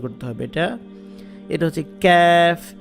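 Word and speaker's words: ك: এটা হচ্ছে ক্যাফ, জিব্বার গোড়া যেখান থেকে উচ্চারণ করছেন তার একটু সামনের দিকে আনলে যেটা হয় সেটা হচ্ছে ক্যাফ, ক্যা ক্যা, ক্যাফ।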